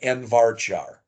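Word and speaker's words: nvarchar: that these things they look weird they're actually pronounced Char varchar n Char and n varchar a field that's a Char field is a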